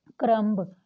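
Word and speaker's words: crumb: Next देखिए बी कहाँ पे साइलेंट होता है, जैसे हम कहते हैं क्रम्ब, क्रम्ब, मतलब क्रम्स बोलते हैं, क्रम्स।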